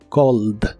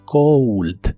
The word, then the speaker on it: cold: Cold. No la confundas con la palabra frío en inglés. Frío es cold, con un sonido U después de la O. Cold. Pero el verbo llamar no lleva sonido U, solo O.